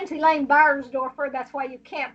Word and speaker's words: Beiersdoerfer: into your experience okay my name is elaine burnsdorfer that's why you can't pronounce it nobody can spell it either german